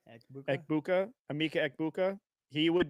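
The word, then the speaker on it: Egbuka: How do you pronounce the last It's name? like Ekbuka. Ekbuka.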